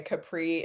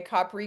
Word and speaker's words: Capri: Um, like I said, I have a pre-order available for I know most people say Capri and I'm pronouncing it the Italian way. Capri, canoli, and conspiracy.